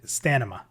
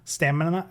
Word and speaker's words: stamina: so growing UPS have I always said stanima instead of stamina stamina see I even have